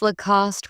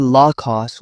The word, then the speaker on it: Lacoste: Some pronounce Lacoste with stress on the last syllable. It's actually Lacoste with equal balance.